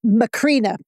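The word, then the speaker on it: Macrina: How do you pronounce Basil's sister's name again? Oh, McCrina.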